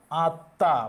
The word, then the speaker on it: আত্মা: আত্মা, মফলা উঠে গেছে তাই চন্দ্রবিন্দু হবে। চন্দ্রবিন্দু হবে স্বরধ্বনির সাথে, চন্দ্রবিন্দু হবে স্বরধ্বনির সাথে।